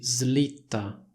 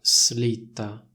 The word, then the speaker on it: slitta: magari vi metto un'immagine questa parola si pronuncia così slitta non si pronuncia slitta molte persone sbagliano e dicono slitta poi vabbè c'è il